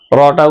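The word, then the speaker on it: راء: রটা উচ্চারণ করতে হবে জিহ্বার আগার পেট উপরের তালুর সাথে লাগিয়ে তারপরে রটা উচ্চারণ করতে হবে।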